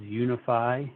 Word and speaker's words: UNIFI: want to make sure people pronounce our name correctly it is unify and you'll understand the